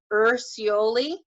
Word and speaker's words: Urciuoli: Urciuoli.